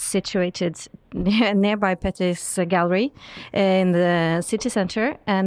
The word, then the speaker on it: Petter: My name is Petter in Norwegian. Peter translated.